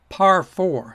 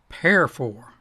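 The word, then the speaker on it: parfor: to finish with that it's called par 4 spelled p-a-r-f-o-r and it stands for parallel for loop considering its meaning i guess it might be more consistent to pronounce it pair 4. nobody does that par 4 was introduced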